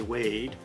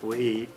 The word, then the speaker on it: Wade: name so you know in American English we say wade but in Belfast they say something like weit we wait and I